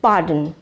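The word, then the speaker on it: pardon: Next, পার্ডন মানে ক্ষমা করুন। এক্ষেত্রে মনে রাখতে হবে এই শব্দ আর লেটারটি সাইলেন্ট, সুতরাং এর উচ্চারণ হবে পার্ডন মানে ক্ষমা করুন।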